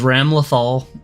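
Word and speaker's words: Ramlethal: sacrificed but this is ram lothal uh spelled like ram lethal uh her last name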